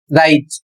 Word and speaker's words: write: इसमें पहला नियम है जब भी कोई शब्द डब्ल्यू आर से शुरू होता है तो डब्ल्यू साइलेंट हो जाता है।